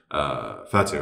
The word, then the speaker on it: Fatih: Correct me if I'm wrong on the pronunciation of his name. Fatih, right?